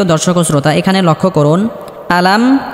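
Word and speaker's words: أَلَمْ: আলাম সম্মানিত দর্শক শ্রোতা এখানে লক্ষ্য করুন আলাম হামজা স্পষ্ট করতে হবে আলাম আলাম তার আমরা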